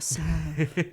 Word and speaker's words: salve: I guess you're not supposed to pronounce the L. A salve.